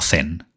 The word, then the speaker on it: Zen: A esa nueva manera, en China se la llamó Chan, y al cruzar a Japón, siglos después, se pronunciaría como Zen, el cual todos conocéis, llevando la intuición budista a su expresión más pura.